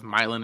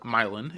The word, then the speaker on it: Milan: So the movie is based on a team out of Milin, Indiana. Um it's spelled as Milan, like Italy, but Milin is how we pronounce it.